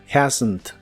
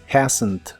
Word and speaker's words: hasn't: muy suave Haven Haven la H de hasn't también se pronuncia como una J suave la a también es